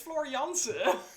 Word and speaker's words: Floor Jansen: I know besides you floor Jansen from Nightwish she is amazing wrong it's floriance it's an ah it's not an air not everything is an America